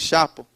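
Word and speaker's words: Xapo: Tem essa empresa que eu gosto muito, chama Zapo, ela se escreve com X, Chapo.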